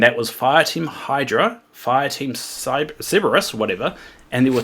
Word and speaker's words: Cerberus: Cerberus. Cerberus, that's it.